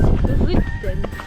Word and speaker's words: Ryten: The Y in Norwegian is pronounced between the I and the U, so it's Ryten.